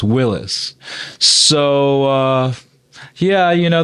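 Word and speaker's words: Willys: Willy's presumab presumably and technically it's pronounced Willis and not Willie's uh I learned that a few years ago but I keep on making the same mistake so it's Willis so uh yeah you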